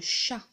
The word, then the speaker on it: chat: le premier c'est le chat le chien si vous avez remarqué si on en était il est écrit en gris on le voit pas parce que on le prononce pas c'est une lettre qui